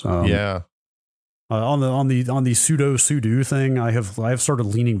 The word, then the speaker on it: sudo: I've mentally locked myself into saying pseudo instead of sudo. What? It's sudo, man.